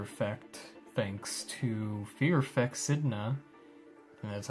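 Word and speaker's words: Sedna: And then the one after that might be Fear Effect, thanks to Fear Effect Sidna.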